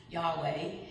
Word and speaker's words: Yahweh: And so the name YHWA, which we pronounce Yahweh, it's the most common term by which God is spoken about in the Bible.